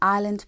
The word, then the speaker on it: Ireland: The S in Ireland, P in psychology, H in honest, and B in plumber.